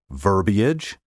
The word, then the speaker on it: verbiage: variants truly beastly mispronunciations take care to pronounce these words in three syllables verbiage and foliage now for a word